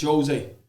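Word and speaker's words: José: Wherever you pronounce it, I know it's not the Argentinian way. It's the Portuguese way, but Jose.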